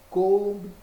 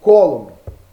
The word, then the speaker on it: Coulomb: Sistema Internacional de Unidades, nós podemos pronunciar de duas formas. Coulomb ou Coulomb, beleza?